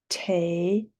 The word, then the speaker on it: table: Table. So when we see that L-E at the end of the word, it's only going to sound like there's an L there. Table.